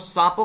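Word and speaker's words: Tsangpo: हैं यहां पर इसको सांपो के नाम से जाना याद जाना ज्यादा साफ हो ठीक है इसमें थी साइलेंट है में सांपो के नाम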